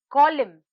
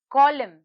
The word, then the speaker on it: column: is silent next word column column column here the letter n is silent our last word is